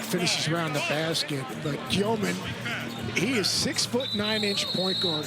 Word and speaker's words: Demin: And there's that young team, Yegor Giomin. Dave McMenamin had it right. There was some concern if he was still Demin in his BYU days from last year, but it is Giomin, the Russian pronunciation, with Traore and Wolf.